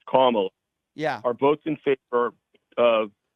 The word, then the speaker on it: Kamala: Why don't you pronounce her name right? It's Kamala. Kamala.